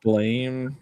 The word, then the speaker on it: Blame: apparently the intended pronunciation is blame, but it's fucking spelled with an E.